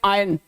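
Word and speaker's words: iron: तो इसमें एक और वर्ड है आई आर ओ एन, आयरन। इसको बेसिकली आयरन बोलते हैं। आयरन नहीं बोलते। The correct pronunciation of this word will be आयरन नॉट आयरन।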